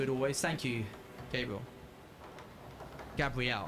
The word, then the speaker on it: Gabriel: Gabrielle, how do you say that name?